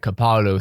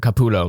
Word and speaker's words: Capullo: crusader who makes nightmares shutter designed by greg kapalu sorry if i've got your name wrong by the way sorry greg capullo my bad sorry about that the drop date